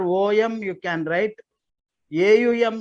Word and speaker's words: Om: you can write r o m you can write AUM you can write whatever totally pronunciation will be om second card your family